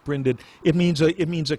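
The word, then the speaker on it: brinded: branded or brined it i think is pronounced branded it means it means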